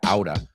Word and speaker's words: out of: He dropped out of college at 22, and he's been out of, que se pronuncia outa, he's been out of work ever since.